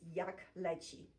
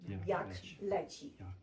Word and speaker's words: jak leci: A very popular is jak leci, the third one. Jak leci.